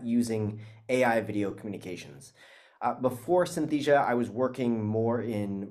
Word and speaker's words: Synthesia: So you say Synthesia. Yes. Right? Okay, great. I'll correct my pronunciation of the company name.